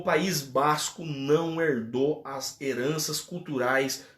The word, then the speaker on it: Basco: E se escreve com V, de Vasco mesmo, tá? Se escreve com V, mas se lê Basco.